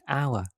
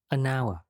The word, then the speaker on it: hour: for example the word hour the starting letter is h but h is silent that's why the first sound is our it's a vowel sound that's why we use and an hour let's have a look